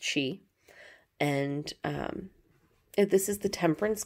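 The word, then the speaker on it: Sidhe: And yes, S-I-D-H-E is pronounced she.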